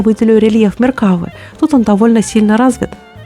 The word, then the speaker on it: Меркава: меня получилась и именно Меркава так многие мне пишут Как правильно произносить этот танк Я думаю они правы так как вы врите чаще всего ударение на последний слог и надеюсь это видео